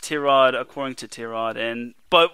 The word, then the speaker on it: Tyrod: like everybody calls him tyrod unfortunately it is pronounced t-rod according to t-rod and but we're gonna have a little swear jar every time we say tie rod it's uh it's instead of t-rod so either